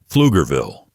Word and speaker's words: Pflugerville: The city of Pflugerville, Texas, was named after Henry Pfluger, who settled the area in 1849. Pfluger means plowman in German. Pflugerville. Yes, that P is silent, and yes, Texans will